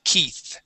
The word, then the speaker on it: Keith: in English Okay but the uh EI here make a long e sound the name is Keith try that please Keith Keith